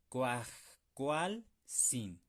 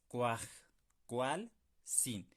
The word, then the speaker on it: kuajkualsin: Cuajcualzin. Ustedes, si necesitan hacerlo, pausen el video y practíquenlo. Ustedes solitos, dividiendo en sílabas. Cuaj, cual, sin.